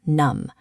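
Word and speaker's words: numb: When M and B are together at the end of a word, the B stays quiet. We say num.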